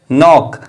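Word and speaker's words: knock: चौथा एग्जांपल है नोक नोक वर्ल्ड की शुरुआत भी के एन से हुई है और एन से पहले के आया है जो की साइलेंट होता है जब एन से पहले के आए तो के को नहीं पढ़ा जाता है और इस वर्ड की शुरुआत हम एन से करते हैं इसीलिए हमने इस वर्ड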